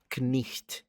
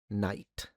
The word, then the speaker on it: knight: axe, that night, uh originally the K was pronounced. Uh in fact, if you look at the evolution of the word, it started as knicht. That's the medieval early medieval pronunciation, knicht. Then that turns into um knecht then kneight knight. Believe it or not.